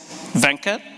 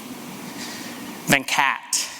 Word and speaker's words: Venkat: is still somewhat challenging there's a few different pronunciations there's the one that my Indian family would recognize venkat there's one that often people gravitate to then caught and there's one that I've sort of settled on as the Americanized version of my pronunciation then cat my daughter seems to